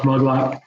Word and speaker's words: Maglot: Check out Brad Maglot, pronounced Muglot, but it's spelled Maglot. And then Garden for Cheap,